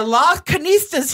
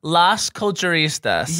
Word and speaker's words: Las Culturistas: So, no, we have the Las Canistas here. Girl. Got it. Is that how you say it? Here's how you say it. Las Culturistas. Las Culturistas.